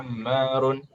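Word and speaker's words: عمار: Yang seperti ini namanya dibacanya Ammar ya, bukan Umar.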